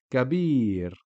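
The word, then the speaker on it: كبير: Fatha on the kaf, so it's just a short sound, ka, and then bir, ya after the ba kasra makes bi become bi. The word is kabir.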